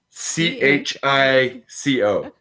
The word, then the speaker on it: Chico: you spell that t-o-p-o c-h-i-c-o chico like literally how it sounds well because no if you say well it like the spanish spelling i would say okay